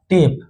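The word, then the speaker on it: tape: ट ए का टे और प टेप।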